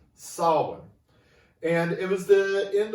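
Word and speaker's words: Samhain: it spelled which is spelled to look like sam hayne s-a-m-h-a-i-n but it's pronounced solomon and it was the end of summer festival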